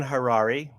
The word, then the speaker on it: Harary: And my name is Dan Harrari. Rhymes with Ferrari.